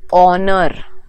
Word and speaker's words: honor: another example honorable person honor we don't say honor we say honor o is the first sound so and so what